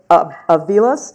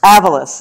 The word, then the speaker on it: Avalos: And Julio Avalos, did I get that correct? No, but it's all right. Keep it going. Fire me already. Tell me how to pronounce Avalos. it. Avalos, yeah.